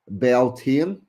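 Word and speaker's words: Beltane: Its name beltine pronounced beline belena comes from the old Irish beltine often translated as bright fire.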